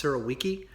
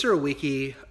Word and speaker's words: Surowiecki: This week I'll be reviewing The Wisdom of Crowds by James, I believe the last name is pronounced Surowiecki.